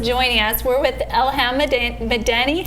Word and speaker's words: Madani: 13 years I had to pass all So if you guys are just joining us, we're with Elham Madani.